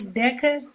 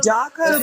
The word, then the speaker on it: DACA: DECA. That's DACA, the acronym.